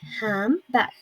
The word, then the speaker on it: handbag: Another example is handbag. We don't pronounce the letter D. We say handbag.